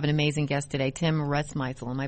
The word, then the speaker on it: Rusmisel: Yeah, we have an amazing guest today, Tim Rusmisel. Am I pronouncing your last name right?